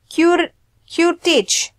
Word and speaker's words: curettage: How do you pronounce this? Curettage. So it's more like a curettage. Curettage. Okay. So that's just for pronunciation, guys.